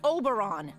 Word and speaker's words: Oberon: telling you, it's pronounced Oberon. You know, like moron.